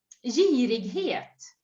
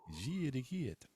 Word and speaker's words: girighet: How do we pronounce greed? Girighet. Ooh, Girighet. that's Mm? a tricky one in Swedish. Mm. Yeah. But it's just like you said it, yeah.